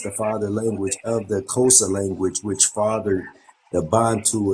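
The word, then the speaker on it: Xhosa: s a yeah Co it's pronounced kosa though but it's xh all right appreciate that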